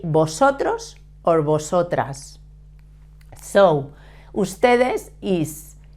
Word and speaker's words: vosotros: form the feminine and remember to pronounce the v in Spanish we pronounce it like a b but in Latin